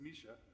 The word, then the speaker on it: Mica: So with that, I'm going to introduce first Mica. Misha, I sometimes mispronounce her name. Some people say it's pronounce it Mica, but it's Misha, right?